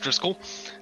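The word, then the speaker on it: Driskell: So my name is Dri Skell, pronounced Driscoll, and I am a lovely relic-born wizard.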